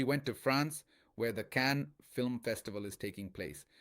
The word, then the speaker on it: Cannes: So, that's why people often use the French pronunciation.